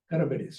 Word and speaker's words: Charybdis: Charybdis. Charybdis, you say. Yeah, Charybdis. That's the way These are Greeks the pronounce two it.